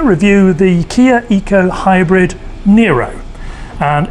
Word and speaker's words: Niro: the kia eco hybrid nero and even though it's spelt nir oh it's an ero that's correct you say